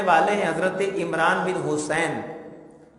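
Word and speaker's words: حصین: ہیں حضرت عمران بن حسین۔ یہ حسین سواد کے ساتھ ہے، سین کے ساتھ نہیں ہے، اور بعض جگہ اس کا حسین بھی تلفظ آتا ہے۔ حضرت عمران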